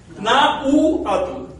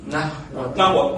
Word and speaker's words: náhuatl: Cuando escribimos náhuatl con H delante de la U, podemos hacer una de dos cosas: no pronunciarla o aspirarla. ¿Bien? Si no la pronunciamos, ¿cómo decimos? Nahuatl. Y si la aspiramos, Nahuatl. Ambas pronunciaciones son correctas.